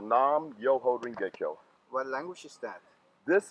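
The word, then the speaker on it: Nam Myoho Renge Kyo: But it's pronounced Nam Myoho Renge-kyo.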